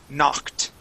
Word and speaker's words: knocked: K at the beginning the K is silent okay but this Ed ending okay when it ends with a K the word is knocked knocked it ends with a T sound knocked try that knock